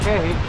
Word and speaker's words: Cay: We know what a perfect day at Coco Cay looks like, and I know it's pronounced Key, but everyone on board says Cay because it rhymes with perfect day, right?